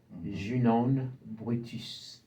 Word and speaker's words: Junon British: I have to say her name in Creole, in French or Creole, so that it's proper credit is given. Junon British.